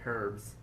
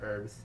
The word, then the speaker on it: herbs: However, first he needs 3 herbs. Herbs or herbs? Herbs. Herbs. Why did you even ask if you weren't going to say it properly? This is America, sir. We say herbs. You pronounce the H's.